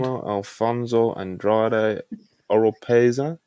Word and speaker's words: Manuel Alfonso Andrade Oropeza: Manuel Alfonso Andrade Oropeza. Is that how you pronounce it?